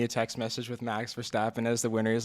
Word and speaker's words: Verstappen: But before, we also have to mention that Max Verstappen, did I say his name right? Verstappen, you got it.